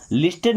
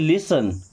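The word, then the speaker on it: listen: T silent हो गया उसको लिस्टेड नहीं पढ़ते क्या पढ़ते हैं लिसन क्या पढ़ते हैं लिसन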